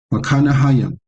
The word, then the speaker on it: Mahanaim: And he called the name of that place Mahanaim. How you pronounce it? Makanahayim, meaning two camps, two people.